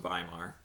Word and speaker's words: Weimar: It's pronounced Weimar. Same thing, Weimar, whatever. W's are V's, V's are for Volkswagens.